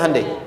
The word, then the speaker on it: Hyundai: Hyundai kan dibacanya Hyundai, kan?